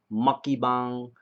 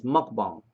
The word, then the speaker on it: mukbang: I was like, make sure I'm saying this right because I keep hearing seeing mukbang, mukbang, muckybang. It's mukbang, from my understanding. Correct me if I'm wrong, but it's mukbang, mukbang. That's how you pronounce it.